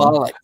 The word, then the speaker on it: Moloch: Moloch. Or Malcolm. Moloch. That's how you say it.